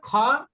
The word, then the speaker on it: خ: দেখেন এর উপরে একটা নুক্তা দিয়ে দিলাম এবার উচ্চারণটা হবে লক্ষ করেন খ বাংলায় একটা অক্ষর আছে না খ এই যে খ অক্ষরটা আছে না বাংলায়